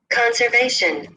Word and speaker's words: conservation: So All these words are stressed on the third syllable, if you will see.